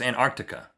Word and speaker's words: Antarctica: It's Antarctica. There's a C in there before that T.